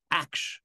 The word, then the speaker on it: action: How do you pronounce an action? Aksh. Because it's the T writing the sh.